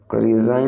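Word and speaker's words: resign: रिजाइन, रिजाइन में जो आपका साइलेंट लेटर है वो है जी। आप रिजाइन को प्रोनाउंस करते समय जी का उपयोग नहीं करते हैं।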